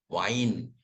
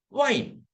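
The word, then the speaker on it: Wein: So I first E afterwards we pronounce it like E and when E comes first and I comes afterwards pronounce it as I.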